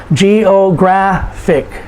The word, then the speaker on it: geographic: graph geographic and so because it ends in ic we put the emphasis on the second to the last syllable geographic geographic diabetic diabetic someone who has